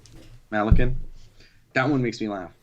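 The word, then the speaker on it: Malykhin: Malakin.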